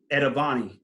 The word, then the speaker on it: Etavonni: He now owns a digital marketing agency called Etavonni. I said that right, correct? Yep, you said it right. It's innovate backwards.